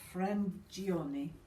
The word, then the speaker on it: Frangione: So the 5 out of 5 is Grazie by Lucia Frangioni. Now, that's my version of the Italian pronunciation.